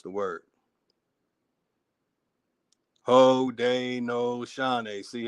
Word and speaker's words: Haudenosaunee: They're showing you how to properly pronounce the word. Haudenosaunee.